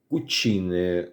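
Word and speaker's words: cucina: Іспанською буде кукіне, кухня, кукінеellлі, там повар, а італійською буде кучине, кученеллі, тобто пом'якшення таке йде. І в цьому випадку воно, тобто написано сі і, а читається ці ці десь приблизно так.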